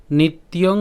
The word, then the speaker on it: নিত্য: এরপর নিত্য, নিত্য কেন? এখানে আমাদের জফলা আছে, আর জফলা উচ্চারণ আমরা জানি যে কার মতো হয়? ইয়র মতো হয়। তাহলে এটাকে আমরা কীভাবে উচ্চারণ করছি? নিত, এরপর হচ্ছে কি? ইয়, ঠিক আছে, নিত্য। তাহলে নিত্য জাতং।